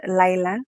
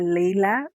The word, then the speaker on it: Laila: two women, Mariam and Laila. BookTok calls her Laila, but I call her Layla. I don't know, it simply depends on your English teacher and how she taught you to pronounce such stuff.